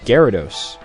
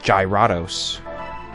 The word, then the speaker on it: Gyarados: for the first gen is Gyarados I always thought it was something like gyrados you never know yeah